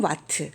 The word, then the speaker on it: 와트: 것 기억나요 그렇죠 대문자 w 루스 9 이 와트 라고 읽어요 2와트 라고 하는 것은 1초 단 몇